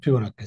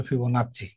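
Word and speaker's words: Fibonacci: উনি সিরিজটা তৈরি করেছে তার নাম অনুযায়ী সিরিজের নাম হচ্ছে ফিবনাক্ষি সিরিজ। কেউ বলে ফিবোনাক্ষী, কেউ বলে ফিবোনাচি।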